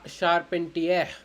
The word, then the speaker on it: charpentier: Next, charpentier, charpentier, charpentier means the carpenter. Okay, it's spelled like sha, sha.